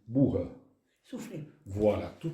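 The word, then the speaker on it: boha: Donc, alors la bourre, ça s'écrit boa, B-O-H-A, et ça se c'est prononce l'orthographe normalisée occitane. Oui. En fait, ça se dit bourre.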